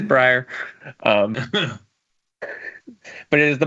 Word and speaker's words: Brier: called the Brier score I did have to look up how Brier pronounced his own name because if you asked me I might have said Brier but it is Brier um but it is